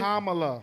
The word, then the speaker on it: Kamala: you say her name Kamala so it's like Camelo and Mala think k no no